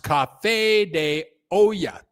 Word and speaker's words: Café de Olla: Doug, it is pronounced Café de Olla.